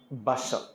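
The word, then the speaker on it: bustle: दबाते यहां बी यू एस टी एल ई बसल बसल बी यू एफ एफ ET buffet भोज में buffet system होता है ये स्पेलिंग लिखा था टी लेकिन पढ़ते नहीं डब्लू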